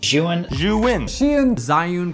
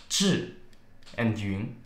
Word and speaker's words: Zhiyun: You have to say it in a Chinese way. So instead of calling it Jian, Zion, Jian, disgusting, it's called Zhi. Listen to this. Zhi and Yun.